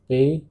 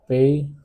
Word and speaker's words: paie: This is pronounced as paie, paie.